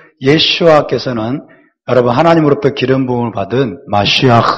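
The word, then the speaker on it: ישוע: 뭐라 그러죠 예슈아서 예슈아이 원래 이름입니다 우 주님의 예슈아 그래서이 발음에 우리가 익숙해질 필요가 있습니다 다시 합시다 예슈아 예슈아 그리스도 그리스도는 헬라어에서 온 것입니다 헬라어에서 온 것이고요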